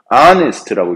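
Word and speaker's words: honest: 자 이거 어떻게 읽어요 h가 또 소리 안 나죠 아네스트라고 있습니다 아니스트 아니기 때문에 모험이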